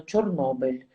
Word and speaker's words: Chornobyl: racismo en ruso es chernóbil y en ucraniano chornobel Así que es un pedido de pronunciarlo toda correcta de hecho Nobel Chernobyl es